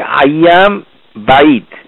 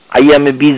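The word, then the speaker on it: أيام البيض: হচ্ছে আইয়ামে বিদ বীজ এটির আইয়াম বাইদ উচ্চারণ হবে বা ইয়া দই আইয়াম আল বাইদ বাইদ বাইদা থেকে এসেছে শব্দ মানে সাদা বাইদ মানে সাদা এইটাই দোয়াল্লিন জোয়াল্লিন কোম্পানির মাধ্যমে বাংলাদেশে এটা বীজ হয়ে গেছে বীজ বলে কোন এখানে কিছু নাই আইয়ামে বীজ না যারা উচ্চারণ শিখতে চান তাদের জন্য এটি রইল বোনাস এটাকে বলা হয় আইয়াম বাইদ মানে বাইদা থেকে এসেছে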